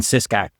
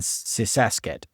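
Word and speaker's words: Sisaket: And Sysak I think you mispronounced that. Ubani Uban Ratchetani and Sisaset.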